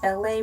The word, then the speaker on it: LA: My name is LA, pronounced like LA, like the city.